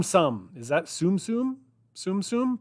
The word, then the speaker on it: Tsum Tsum: Tsum Tsum, pronounced Tsum Tsum, is a range of Japanese collectible toys based on Disney-owned characters. The name is derived from the Japanese verb sumu, meaning to stack.